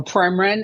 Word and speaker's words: Premarin: So Premarin is the way we pronounce it.